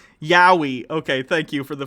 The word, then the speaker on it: Yaoi: It's Y-A-O-I. Yowie.